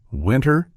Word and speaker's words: winter: winter, internet, and sentence, the T often gets dropped entirely in casual speech. So instead of fully articulating the T, we commonly pronounce it as sentence, winter, international, internet, with the T mostly omitted.